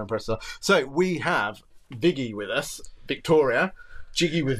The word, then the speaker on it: Viggy: and it's funny because I actually don't go by in the normal pronunciation but where viggy comes from is Vicky with the New York accent so viggy likey Like